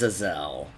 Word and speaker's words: Azazel: lord who serves slanesh i assume he it is pronounced as a zell diplomatic relations plus 80